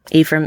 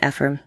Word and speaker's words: Ephraim: don't we all yeah Ephraim Ephraim sorry two pronunciations depending on your region yeah it depends on where you're from yeah I thought about